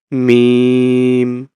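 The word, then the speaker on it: ميم: মিম দুই ঠোঁটর থেকে মিম মিম মিম দুই ঠোঁটর থেকে উচ্চারণ করব আচ্ছা আরেকটা হলো দেখি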